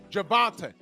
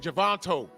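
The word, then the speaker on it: Gervonta: Because also in this uh um press conference, there was a part where someone said his name wrong and he corrected him. Javante. Javante. And Jake Paul said, "Javonto."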